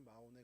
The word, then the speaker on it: 마온: 영어로도 마온으로 이렇게 발음을 합니다. 은신처라는 뜻을 갖고 있고요. 위치가 헤브론에 가깝죠. 뭐 대충 오늘 본문을 이제 보셨으면 이 나발이라는 사람이 마온에 거주했고 길가 어쨌든 그